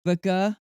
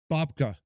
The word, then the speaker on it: babka: According to Elaine, which flavor of, I don't know how to pronounce that, Okay. Babica is lesser Babica? Babka.